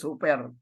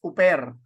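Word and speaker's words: ὑπέρ: one of the so this is pronounced as hoer hoer so it is not pronounced as oper and the example below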